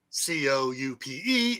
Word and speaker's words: coup: A chicken coop, COUPE, is a car for chickens. Now, a chicken coup, where the P is silent, as you can see, is the monarchy was overthrown by a violent chicken coup.